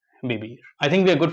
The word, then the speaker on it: vivir: We don't pronounce H and we pronounce V as soft B. Hablar and vivir.